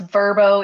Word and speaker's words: Vrbo: hotels airbnbs we've uh I hear it on the commercial pronounced verbo even though I call it vrbo's how how do you